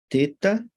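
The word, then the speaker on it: θῆτα: fica Eita eita elefante teta teta bronzeado pronunciado como o th do inglês think o yota igreja e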